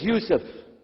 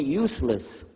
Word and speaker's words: Yusuf: work on it inallah my name is Yousef can you say Yousef you say Yousef you're very good I wish youd teach my wife she keeps mispronouncing it she calls me useless alhamdulillah now how